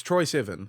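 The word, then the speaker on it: Troye Sivan: So it's Troy Sivan.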